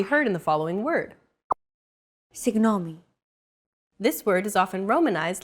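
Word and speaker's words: συγγνώμη: romanized like this signomi this character isn't pronounced using an English G sound at all who it's like a very soft continuous and loosely held G almost as if you're gargling but don't make it sound too throaty who there's no such sound in English but most people would transcribe this using the letter G because that's the closest equivalent in English pronouncing it like an English G however would be a huge mistake to get that sound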